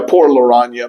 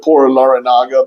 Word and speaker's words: Por Larrañaga: Por Larraña. But I know people pronounce it Por Larrañaga, but it's actually Por Larraña.